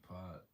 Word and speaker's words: Porirua: Porirua, p o r i r u a.